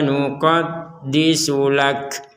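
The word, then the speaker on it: نقدس لك: Huruf terakhirnya adalah huruf kaf. Maka kita membacanya disertai nafas. Ditertai keluarnya nafas. Makanya kalau didengarkan itu tidak murni ka seperti huruf K dalam bahasa Indonesia, tapi ada unsur, ada nafasnya yang keluar dari mulut kita.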